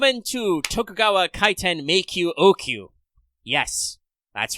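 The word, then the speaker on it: Ōoku: tokugawa kaiten make you oku yes that's right it involves all those words long u long o ooh i don't know why it's written with a double o and a long o but i guess it's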